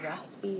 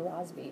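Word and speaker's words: Rossby: And I've heard it pronounced like with a soft S and a hard S. So, raspby or rasby, I don't know, raspby waves.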